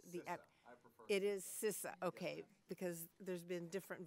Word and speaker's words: CISA: you're gonna have to tell us how to pronounce the app it is cisa okay because there's been different versions going around